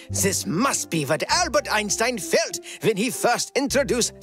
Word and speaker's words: Einstein: This must be what Albert Einstein felt when he first introduced the theory of general relativity. You mean Einstein.